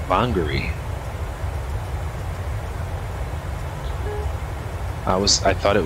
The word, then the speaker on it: Whangarei: name today's arrival Airport Way wrong it's actually pronounced bongary I was I thought it was wengery that is pronounced Hungary so learn something new